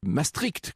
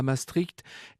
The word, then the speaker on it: Maastricht: contre l'esprit de maastricht maëstricht comme dit d'ailleurs jean marie le pen il semble que ce soit la bonne prononciation au demeurant à gauche